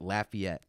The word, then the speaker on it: Lafayette: someone from Lafayette and she pronounces it Lafayette raging C really Lafayette yeah